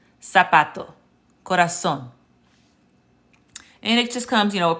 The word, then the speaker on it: corazón: Learning to recognize the pattern that the Spanish Z indeed sounds like the American S. So corazón, zapato. So that is a pronunciation tip that will help you to sound more fluent.